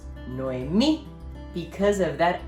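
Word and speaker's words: Noemí: silva tonica for example nuemi nuemi is divided into three syllables we also notice that me has an accent mark making it the stressed syllable so the name is pronounced no me because of that accent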